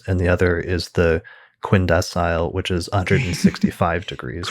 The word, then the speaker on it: quindecile: Sagittarius is a beautiful word, but it's quindecile and quintile. Right. He preferred to put like an Italian pronunciation on the term or something like that.